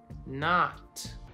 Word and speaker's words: knot: Or you could tie a knot.